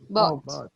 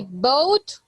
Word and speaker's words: bought: Bought. Like a boat. I bought. If you say boat, you're saying yo barco.